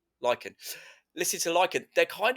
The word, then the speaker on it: Lichen: Is it like Lichen? Lycan, yeah. Lichen.